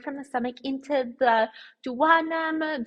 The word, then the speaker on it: duodenum: the stomach into the duodenum, "do a denim", you might've heard people pronounce it as, that is where all these juices from the pancreas, like the bicarb and those enzymes come in.